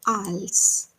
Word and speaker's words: IELTS: most important thing is what's the pronunciation of this word it's ALS T is silent here so what's the